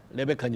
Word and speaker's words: 리브가: 레베카가 리브가 원래 히브리 발음 리브가예요. 한국성에 리브가 히브리 발음에 가까워요. 레베카는 영어 발음이고 자 레베카가 하나님께 인화했더니 하나님의 비밀을 가르쳐 주는 거 속에 두 민족이 있다.